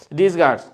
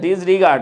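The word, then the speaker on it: disregard: ডিসগার্ড, ও আচ্ছা আচ্ছা, হ্যাঁ আমি একটু উচ্চারণ ভুল করছি না। জুলহাস আহমেদ লিখেছে হচ্ছে ডিসরিগার্ড, আচ্ছা নট ডিসগার্ড, আচ্ছা আচ্ছা, হ্যাঁ ওটা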